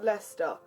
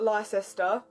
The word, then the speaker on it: Leicester: just other people guess it does have three syllables but to us it has to it's Lester not lie sister it's not my sister square it's leicester square people don't like the